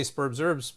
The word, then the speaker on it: Spurbs Herbs: We Americans have a silent H there, which I know very well because I taught this in Australia and they would make fun of me. So Spurbs, it says, we say Spurbs Herbs, but they would say Spurbs Herbs.